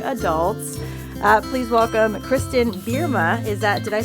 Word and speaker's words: Bierma: are now young adults uh please welcome Kristen berma is that did I say it correctly you